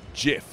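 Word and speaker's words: GIF: you pronounce this word i actually no it's jif i read that on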